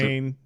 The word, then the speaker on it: Samhain: The Samhain was the, Samhain, yeah. yeah, that's the Yep.